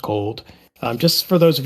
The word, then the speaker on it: CLD: a little bit so Commerce and Logistics Vision pronounced cold um just for those of you just in